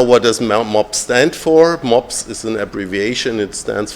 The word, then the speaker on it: MOPS: And it's easy to pronounce by Germans because this dog breed, the pug dog, the German word is MOPS, but without a B.